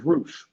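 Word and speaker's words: Rush: Oh, it was Roosh.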